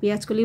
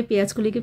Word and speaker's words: পেঁয়াজকলি: বলতে গিয়ে মনে পড়লো এর আগের দিন আমি পেঁয়াজকলিকে পেঁয়াজকালি বলেছিলাম। যাই হোক, ওটা হয়ে গেছে, কথায় কথায় হয় না প্রোনাউন্সিয়েশনটা মানে একটু উল্টোপাল্টা হয়ে যায়, তো সেটাই হয়েছে আর কি। তো পেঁয়াজকালি না, ওটা পেঁয়াজকলি হবে।